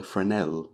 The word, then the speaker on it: Fresnel: is this well yes it's a friend el lens yes I know it's spelt Fresnel but there again he was French in the top of